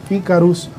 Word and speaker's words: Icarus: @ ikarus oficial este como se escribe como se escucha con i c a icarus oficial sin K por favor este y también nuestra